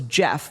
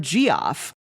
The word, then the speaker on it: Geoff: of the fans that wrote in's name was Jeff, but it was spelled Geoff. And the co-host mispronounced it and said that his name was, she was like, we have a letter in from Geoff.